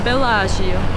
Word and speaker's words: Bellagio: Bellagio. Yes. So we are currently there. And I'm learning Italian. This is for you guys who got confused. Yes. Okay. Well, we are in Bellagio, and the plan right now is to find